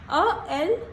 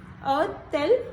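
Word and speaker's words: a-t-elle: Between two vowels we always put T, and it will come out to be a tel un chien?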